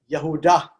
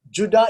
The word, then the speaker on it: Yehudah: The next son is the fourth son, the son of Yehudah, Judah. That's why I keep telling you all, Judah is Greek, Yehudah is Hebrew.